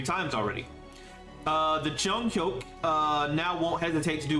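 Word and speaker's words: 중혁: Chonghyuk is how you pronounce that. I hate the romanization of Hangul. It's Chonghyuk. I wish I could just read like their like actual Korean characters because I can't pronounce the Korean name with these letters. It's Chonghyuk, by the way.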